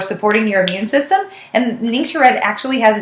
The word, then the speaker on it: Ningxia: he's been reducing that since he started the Ningxia Red, and he puts lemon and peppermint in his water. So those are great things. Now, Ningxia Red is amazing for supporting your immune system, and Ningxia Red actually has its own website.